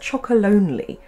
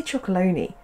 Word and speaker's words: Chocolonely: me by Tony's chalon is it meant to be pronounced chocolonely I always say chalone chocolonely well I'm not